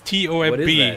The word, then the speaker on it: tomb: Who the hell reads T-O-M-B and goes tomb? Yeah, it's definitely... The B is definitely silent. Yeah, the O is like a U.